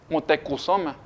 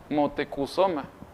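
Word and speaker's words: Motecuhzoma: va modificando y pues le cambian Moctezuma a un cómo se puede decir a una pronunciación más cercana pero la verdadera pronunciación es mutekusoma motecusoma es el verdadero el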